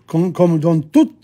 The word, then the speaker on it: toute: À Paris, comme dans toute la France, see? The feminine there, you pronounce the T.